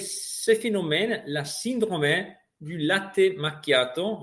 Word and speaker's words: latte macchiato: Les économistes appellent ce phénomène la syndrome du latte macchiato, avec la prononciation italienne, donc latte macchiato.